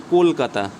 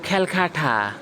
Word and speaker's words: কলকাতা: Suppose আমি বললাম কলকাতা, আমি কি বললাম, কলকাতা। তুমি একটা ব্রিটিশ মানুষকে ফোন করবে, সাপোজ সে ব্রিটেন থাকে, তুমি তাকে বলবে বলো তো কলকাতা, ও বলবে খ্যালখাঠা, কলকাতা উচ্চারণই করতে পারবে না।